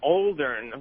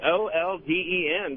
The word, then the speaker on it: olden: Well, you're talking about mispronouncing words, and about 10 times a day, Anthony says Oldern with an R in there, and I could be wrong, but I think it's Olden, just in the olden days.